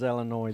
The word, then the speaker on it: Illinois: It is Illinois. The S is silent. They don't use the S.